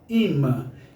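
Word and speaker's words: אם: atenção a palavra mãe em hebraico significa se pronuncia ímã e essa palavra mãe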